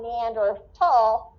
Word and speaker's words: Neanderthal: the german and so scientists have dropped the h from neanderthal and pronounce it with lph because that is in line with the german language that is the root